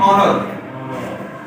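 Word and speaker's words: honor: ई है, तो फिर भी हम एच को साइलेंट कर देते हैं। मसलन इसके लफ्ज यानी ऑनर, इज्जत, रिस्पेक्ट, ठीक है।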